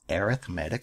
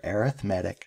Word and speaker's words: arithmetic: Let's learn about arithmetic sequences. And that's how you pronounce this word right here, arithmetic sequence. And sometimes it's pronounced arithmetic sequence.